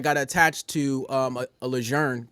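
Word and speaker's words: Lejeune: But but what happened was I fapped to first marine division and I got attached to um a leger camp leger. That's how you say it. It's French.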